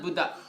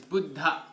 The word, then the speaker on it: Buddha: Actually it's not Buddha, it's Buddha. Buddha. Buddha. Buddha. That's actually the proper way to pronounce his name.